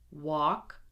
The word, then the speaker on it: walk: Skill practice: silent L. Do not pronounce the L. Here we go. Would, should, could, walk, talk, half, chalk, salmon.